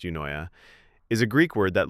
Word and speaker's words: Eunoia: Yunoya, pronounced Yoya, is a Greek word that literally means beautiful thinking or a well- mind.